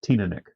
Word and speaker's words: Teaninich: The correct pronunciation for this whiskey is Teaninich.